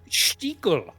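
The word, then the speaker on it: Stiegl: How do you pronounce that? Stiegel.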